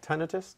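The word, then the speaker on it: tinnitus: before the show on tenus tenus tenius or tenus it could be pronounced either way uh is there help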